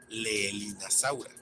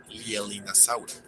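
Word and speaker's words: Leaellynasaura: podríamos pensar que se pronuncia Leelinasaura, pero no es el caso, pues el diptongo EA no es latino, sino inglés, así como también la doble L, ya que deriva del nombre propio, que se pronuncia Lielin, así que queda como Lielinasaura.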